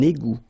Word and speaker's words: égout: Final T not pronounced. Un égout.